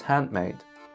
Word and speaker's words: handmade: In fast speech, what you will hear is that this mouse is handmade. This mouse is handmade. So that's how we assimilate nd to an m, handmade.